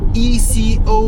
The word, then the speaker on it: eco: It doesn't know how to pronounce ECO. It's eco mode.